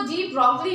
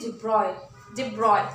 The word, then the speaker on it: de Broglie: अच्छा, एक चीज और, इसको डी ब्रॉगली यूजुअली हम एक्सप्लेन करते हैं just because of its spelling, but इट is actually डिब्रॉय।